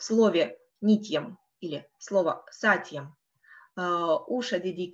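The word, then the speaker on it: नित्यम्: Как вы заметили, в правильном произношении для того, чтобы утяжелить слог, делается как бы легкая пауза и делается акцент не на предыдущую гласную, например, здесь не, мы не делаем нитьем, мы не тянем ее, мы делаем акцент на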